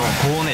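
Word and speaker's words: コーネ: ちょっと脂身が豊富な、広島風に発音するとコーネです。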